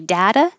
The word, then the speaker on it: data: d no matter what you can say data data but americans are going to change that t to a d data and this would